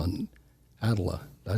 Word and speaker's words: atlatl: They their major weapon was called an atlatl. Did I say it right? Atlatl.